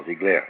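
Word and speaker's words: Ziegler: o seu Na verdade zigler é um sobrenome alemão Mas como é é suíço pode ser pronunciar Jean zigler né esse sujeito inventou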